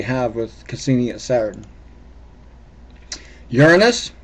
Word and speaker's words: Uranus: Uranus, please note how I pronounce that. We don't say Uranus, it's Uranus, and we can all figure out why.